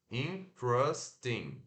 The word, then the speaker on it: interesting: Como se fosse, ao invés de fazer ter, faz tra, tá? Interesting, interesting.